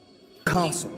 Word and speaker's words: castle: They now we can repeat after Harry Potter castle. Castle. Yeah. So the thing is that the the T there is not pronounced.